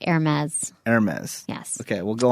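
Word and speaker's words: Hermès: It's spelled Hermes, but it's pronounced Hermes.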